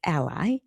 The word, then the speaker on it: ally: It does mispronounce words that are spelled correctly, like ally. Kept calling it ally.